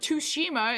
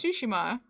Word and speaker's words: Tsushima: It's not Tsushima, it's Tsushima.